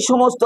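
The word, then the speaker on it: psalm: a certain short সাম এটাকে PS sound হবে না পি এস এ এল এম উচ্চারণ হবে সাম দন্তস ম পি হবে সাইলেন্ট এল হবে সাইলেন্ট সাম মানে স্তত্র মন্ত্র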